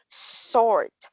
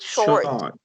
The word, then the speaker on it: sword: mr it's not it's sword sword it's not short no no it's so sword okay you should pronounce it as sword not short you are strong very